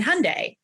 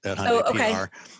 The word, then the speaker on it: Hyundai: a familiar brand in Hyundai. Everyone already knows Hyundai. They don't always know how to pronounce it. It's like Sunday, but they know that